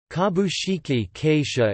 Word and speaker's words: kabushiki gaisha: In English, kabushiki keisha is usually used, but the original Japanese pronunciation is kabushiki gaisha because of rendaku.